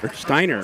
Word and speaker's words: Steiner: his name is pronounced steiner steiner rhymes with diner yeah i would not